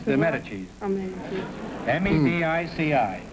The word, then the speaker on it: Medici: Medici. M-E-D-I-C-I.